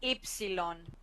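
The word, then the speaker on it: ε: afraid to hear this is Epsilon Epsilon Epsilon this is e sound when it's only this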